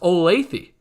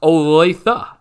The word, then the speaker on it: Olathe: was taught right away that it is not pronounced olathe it is pronounced olathe so uh just a little side note there